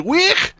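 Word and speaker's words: Waugh: h yeah we we uh we my name's we this is T and this is p pleasure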